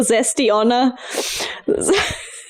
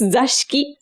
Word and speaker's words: Zashiki: You called me for my pronunciation of grape wine. Yeah. Now I'm catching you for the Zesty-Onna. The zesty, fruity woman. No, actually, it's Zashiki.